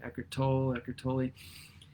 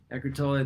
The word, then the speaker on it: Eckhart Tolle: Eckhart Tolle, I believe that's how you say his name, Eckhart Tolle.